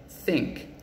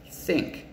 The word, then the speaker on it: think: voiced th sound is so the th in think think is that voiced or unvoiced listen think but the or the